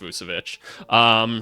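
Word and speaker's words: Vukčević: Another Wizards player, Tristan Vucevic, I believe it's pronounced Vucevic. Rookie second round pick for them.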